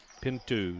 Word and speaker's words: Pinto: and we are tied pin two she pronounces it nine a piece and